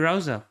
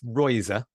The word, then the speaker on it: Reuser: Today, I have with me FPL Rouser. Did I pronounce that right? You can pronounce it however you want, but it's Royser, Royser.